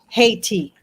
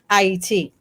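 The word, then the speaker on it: Ayiti: And the name is not hate. It's pronounced A-Y-T. Ah is the sound of creation. And those who know, obviously for reasons of war, they changed the name or the pronunciation of the name to Haiti.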